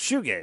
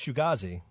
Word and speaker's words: shoegaze: Is it pronounced shoegaze? Yeah, it's shoegaze. Yeah, shoegaze. I thought it was Shugazi. No, it's shoegaze.